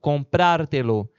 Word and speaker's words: comprártelo: Comprar, a sílaba tônica do verbo é pra. Quando eu junto os pronomes, consequentemente, eu estou juntando mais duas sílabas. Então, aquela sílaba tônica pra, que é a última, ela passa a ser a antepenúltima. Então, ela passa a ser uma palavra proparoxítona, comprártelo.